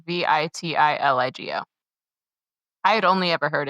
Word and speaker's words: vitiligo: The actual condition it's spelled V I T I L I G O.